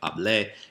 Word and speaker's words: hablé: So same idea, like it sounds like café, but hablé, and that's your structural thing.